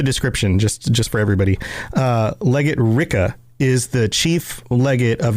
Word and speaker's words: Rikke: I think technically her name is pronounced Ricka.